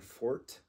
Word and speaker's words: Forte: just to pronounce the the English word Fort like building a fort with your with your